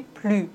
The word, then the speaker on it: plus: Quand l'adjectif commence par une consonne, on ne doit pas prononcer le S. On dit plus.